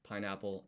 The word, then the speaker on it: パイナップル: パイナップル、 It's worth pointing out, by the way, that this is a half-sized tsu in katakana called sokuon. So you don't pronounce the tsu here. It's a silent pause that places extra emphasis on the consonant in the next katakana.